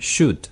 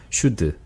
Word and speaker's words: should: 그다음에 should 마찬가지 should. should. 네. Yeah. 거기서 으 모음을 빼면 should.